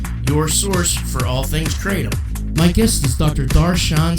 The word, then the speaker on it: kratom: It's taught me a lot about kratom, or kratom. That's what we call it around here. There's different people pronounce it different.